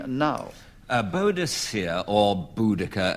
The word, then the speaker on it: Boudicca: a Buddhist here or Boudicca as she is more often or rather more correctly called um Clement Freud two